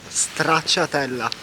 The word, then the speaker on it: Stracciatella: Try to pronounce it. Stracciatella. Completely wrong. Okay, The okay. real name of it is Stracciatella.